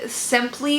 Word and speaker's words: Sympli: It's spelled simply that way, so I at the end, and they sold for $32.